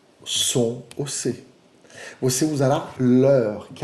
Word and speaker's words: leur: Qual é a pronúncia desse leur? Como se você estivesse falando da hora. Que oração? Quelle heure est-il? Leur.